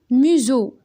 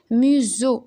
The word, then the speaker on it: museau: Alors, et, ET ça se prononce et, E accent, un grand, le D est muet, museau. Le S entre deux voyelles se prononce Z, museau, E-A-U se prononce O.